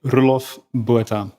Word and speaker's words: Roelof Botha: My parents would call me Roelof Botha. Roelof Botha.